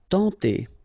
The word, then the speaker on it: tenter: Tenter. Okay, remember when you get this N together, you get the nasal sound en, tenter.